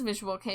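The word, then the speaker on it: Visual Kei: It is Visual K because the Japanese market has K cars and they're pronounced K car.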